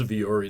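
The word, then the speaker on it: Vuori: But also the following week, I think GBM7, I always struggle to pronounce the name of the company. What is it? Yes, that's Viore.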